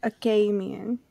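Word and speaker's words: Achamian: did we say it it's pronounced I think the glossery has it aian but I've been saying akam here okay because they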